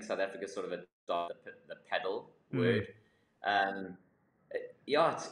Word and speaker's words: padel: do you pronounce it is it pedal or padel yeah so it's actually padal but uh it depends on where you are in the world I think South Africa sort of a pedal word um yeah it's